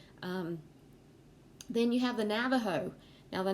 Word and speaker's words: Navajo: then you have the navajo now the navajo um again you can see it's spelt with the j but it's pronounced with h and so it's sometimes